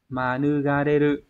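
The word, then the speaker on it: 免れる: Manugareru.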